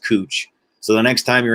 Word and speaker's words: Couch: fun of me but it's actually pronounced cooch so the next time